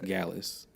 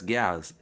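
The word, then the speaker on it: Gyalis: it oh yes galles gallus you pronouncing it weird but it's gals like you know like yeah you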